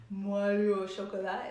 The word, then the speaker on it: Moelleux au chocolat: But the cool thing is I think a lot of people are scared about making Moelleux au chocolat.